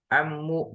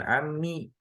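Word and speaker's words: عمّ: Ammu bukan ammi, karena dia terletak setelah huruf istifham aina.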